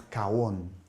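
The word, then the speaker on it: עוון: Et il y a un autre mot, toujours hébreu, qui se prononce kawon.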